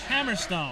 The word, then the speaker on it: Hammerstone: Hammerstone.